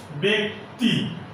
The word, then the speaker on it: ব্যক্তি: এ, যেমন ব্যক্তি, এখানে দেখো বয়ে জফল আছে কিন্তু তার পরের বর্ণটি আছে হ্রস্ব ই, এজন্য এই জয়ের উচ্চারণ হবে এ এর মতো, ব্যক্তি।